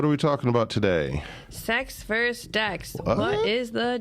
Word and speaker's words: CeX: CeX versus d-e-x yeah it's a soft C Soft C yeah definitely not the same thing all right um so